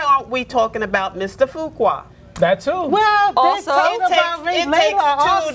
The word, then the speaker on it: Fuqua: Fuqua. Fuqua.